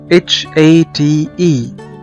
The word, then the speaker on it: hate: كمان زي كلمة hate او يكره hate, ما بننطقش حرف الاي.